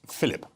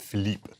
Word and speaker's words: Philippe: mushrooms are yes so I mispronounced this earlier I called it mushrooms Philip assuming it was Prince Philip I suppose it was but you you planted Philippe mushroom Philippe so and everything with Philippe